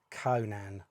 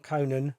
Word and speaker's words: Conan: so this is the Mezco 112 King Conan, not Conan. Hello, Jay, my friend, who always pulls me up for my pronunciation of Conan.